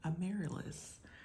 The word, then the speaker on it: Amaryllis: My name is Amaryllis, almost like the flower. The flower is pronounced Amaryllis, but I am Amaryllis.